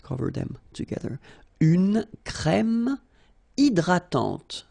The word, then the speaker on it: hydratante: Une crème hydratante. So remember, H is not existing, and then this Y is pronounced like E. hydratante. Okay, don't insist on the final E, and this is nasal. Hydratante. Un coupe-ongle.